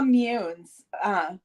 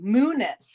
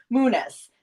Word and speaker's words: Muniz: And this comes from Linda Munes. Okay, Muniz. I think she put the pronunciation there. Muniz.